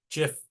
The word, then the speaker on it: GIF: are what we'd call GIF aent GIF adjacent or GIF adjacent it's probably a good PLL idea is it G soft G um it's a low